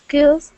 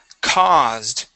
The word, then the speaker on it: caused: Okay, let's go to the word caused. All right, this will be an ah sound. Caused.